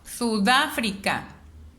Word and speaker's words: Sudáfrica: Me doy cuenta que es en el da. Entonces identifico, si no está en la última sílaba, no es aguda. Si no está en la penúltima sílaba, no es grave. Si está en la antepenúltima, corresponde a una palabra esdrújula.